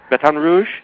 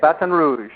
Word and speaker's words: Baton Rouge: all that I know you are you're in Baton Rouge did I pronounce that right yeah Baton Rouge batan Rouge that's how they say it batan Rouge batan Rouge I'm I'm pretty good at lingu